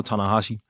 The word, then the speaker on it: Ta-Nehisi: away because I I think I want to pronounce and he was like yeah I know tanahashi yeah he just fixed it for me